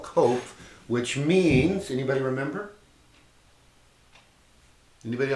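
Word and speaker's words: Qoph: is a path called in the Hebrew system coke QoP H is a way we spell it in English those you to speak and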